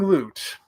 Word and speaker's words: Glut: only dinosaur himself glute and I got it right this time correct right yeah I am glute quote somebody yep I